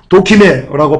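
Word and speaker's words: δοκιμή: 연단은요 도키메라고 발음하고요, 시험 받은 자격, 입증, 증명입니다.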